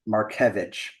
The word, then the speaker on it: Markiewicz: help me on this Mar marvich marevich yeah yeah definitely little unless your polish is up to Snuff um you know it's it could be a tough one yeah I even